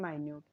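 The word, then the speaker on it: minute: Compact and माइन्यूट, ये मिनट नहीं है, इसको माइन्यूट प्रोनाउंस करते हैं हम जब डिमिन्यूटिव में इसके सिनोनिम्स को पढ़ते हैं तब।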